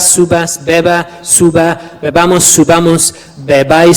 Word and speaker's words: bebáis: What does that accent do? Yeah, it puts the stress on the ending, doesn't it? Bebais, subais. Yeah, it puts the stress on the final syllable, which happens to be the ending.